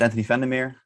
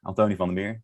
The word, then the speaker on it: Anthony van der Meer: Yeah, my name is Antony van der Meer, Antony van der Meer, and that's how you say it in Dutch.